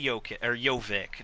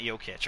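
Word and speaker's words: Jokić: ended up drafting nichola yoke or jovic not yokitch obviously mojave king and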